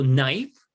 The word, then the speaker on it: knife: don't pronounce the k so knife we don't pronounce the k knee we don't pronounce